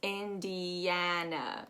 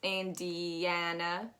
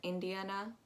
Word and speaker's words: Indiana: because it has india but it's not going to be pronounced the way we pronounce india it's indiana just imagine that there's a y in there indiana because that yana that a sound is very it's very um nasal heavy so you really want to imagine that there's a y there um if you pronounce it as indiana which would make sense it makes sense but that's not how it's pronounced i'm so sorry underneath